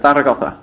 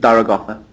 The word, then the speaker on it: Zaragoza: Yeah, Zaragoza is how you pronounce it. You pronounce it Zaragoza.